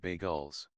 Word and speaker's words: bagels: Five bagels. That's how you pronounce them.